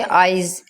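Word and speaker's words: eyes: उसके बाद आइज़, आइज़, इसको आप आइस नहीं पढ़ते, आइज़।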